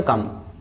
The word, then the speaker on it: comb: so इसी तरह से और भी एग्जांपल है, for example COMB पढ़ते हैं क्या, comb, not comb नहीं, क्योंकि रूल क्या बोलता है, अगर B से पहले M आता है तो B हो जाएगा आपका साइलेंट, राइट। सो COMB क्या पढ़ेंगे, कम, कम आने वाला कम, राइट।